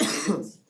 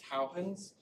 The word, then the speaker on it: Huygens: The way to actually pronounce that, it's not Huygens, it's Huygens. So this, the cool part about Dutch is that like a lot of English is just Dutch written differently.